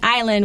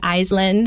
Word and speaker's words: island: should remember that island, even though there's an S in there, right? But the S is silent. So we got to say island. We don't say Island or Iceland, right?